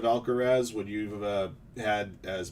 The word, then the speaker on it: Alcaraz: If a guy said Alcatraz instead of Alcaraz, would you have had